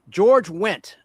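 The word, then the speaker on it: George Wendt: George went spelled with a D. The D is silent.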